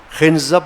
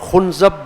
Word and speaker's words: خنزب: خنزب، اب اس کو خنزب بھی کہا گیا ہے، خنزب بھی کہا گیا ہے، اور خنزب بھی کہا گیا ہے. تینوں قسم کے تلفظ اس نام کے لیے ہیں. پروننسیشن اس کی تین طرح سے، خنزب، خنزب، خنزب، اور تینوں درست ہیں.